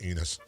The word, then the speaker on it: Ennis: Ennis is It's pronounced Enos.